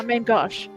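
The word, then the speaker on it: main-gauche: So what they actually mean is the main main how do you pronounce it? Gosh. Gosh. Gosh. Yeah. Main gosh.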